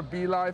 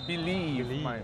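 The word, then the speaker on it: BLive: Or, sorry, not BeLive, it's Believe. Believe. Although it's spelled B-L-I-V-E, it actually means believe.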